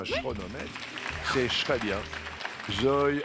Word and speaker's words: chronomètre: Et ben oui, ça se Bah oui, c'est un K CH mais on un chronomètre.